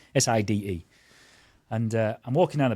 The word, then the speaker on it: Side: It's spelt Side, but I think they pronounce it Side. Side.